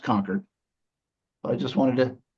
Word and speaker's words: Concord: And I know it's pronounced conquered, but I just wanted to enunciate for everybody. So Concord Female College established in 1856, was before the Civil War.